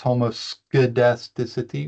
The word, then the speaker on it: homoscedasticity: fun name for it it's homoscedasticity I pronounced this homocedasticity with a hard C there's actually an academic